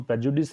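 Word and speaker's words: prejudice: तो सबसे पहले प्रेजुडिस एक वर्ड है, इसका प्रोनाउंसिएशन प्रेजुडिस है।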